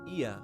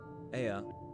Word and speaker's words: Ea: our thoughts and intention, Ia, I believe, was the pronunciation used when referring to our people. Ea, though it is not entirely applicable given our present state, you are welcome to use this appellation.